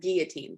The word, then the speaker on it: guillotine: And that word is pronounced guillotine, by the way, just so you know. Guillotine. Like it's French for chopping off your head.